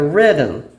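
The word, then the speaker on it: Ridim: And then we have another song called Like a Rhythm, but it's spelled R I D I M.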